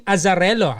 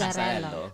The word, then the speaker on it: Azzarello: If you just tuned in, we have Justin Azzarello. I said it right? Yes. Yes. Azzarello.